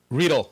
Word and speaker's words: Readdle: Readle. I got corrected Readle. at Macworld. Readle. Thank you. Readle. You don't want to have angry Ukrainian developers on you about mispronouncing their company name, let me tell you.